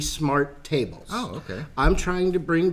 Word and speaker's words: SMRTables: you're pronouncing the name it rolls off the tongue easily as smart ovals but it's actually smart tables okay I'm trying to